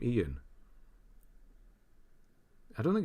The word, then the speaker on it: Ian: saying my name right everyone says iron iron but Ian that's how you say Ian who says iron is